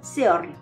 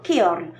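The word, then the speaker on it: ceorl: le prononçant à l'anglaise aura sans doute tendance à dire Seorl. Car hormis le mot celt qui peut aussi être prononcé celt, tous les mots anglais courants commençant par ce, on le sait, qui se prononcent s. En revanche, un lecteur avisé par l'appendice e prononcera plutôt keorl.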